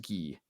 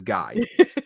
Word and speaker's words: Guy: It's pronounced Guy. In this province, it is Guy, Cole, Nick, Guy. Everywhere else, it is Guy. Just in this one, it is Guy.